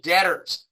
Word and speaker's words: debtors: cards right they're the debtors and remember remember it is pronounced debt even though it has that b in it it's debtors now this